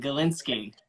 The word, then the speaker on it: Gilinsky: just heard you I heard you learn the pronunciation of my last name I appreciate that and Galinski yeah lot of people struggle with especially when